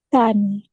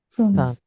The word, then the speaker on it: Zahn: Zahn. Ada yang membacanya sebagai C. Tsahn. Tsahn, ya. ts tsahn.